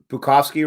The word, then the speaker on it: Bukowski: Bukowski rhymes with Gronkowski.